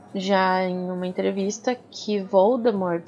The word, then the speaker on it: Voldemort: em uma entrevista que Voldemort se pronuncia sem o t no final que isso em na